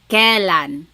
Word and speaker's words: kailan: Then the word kailan, when. You might hear some people say kailan. Sounds like an E, but it's technically spelled with an AI.